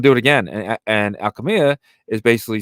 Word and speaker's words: Alchemia: Alchema, right? Alchema? No, Alchemia.